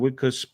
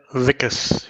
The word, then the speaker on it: Wikus: Wikus. Did I say that correctly? Yeah, Vicus. Say it with a V.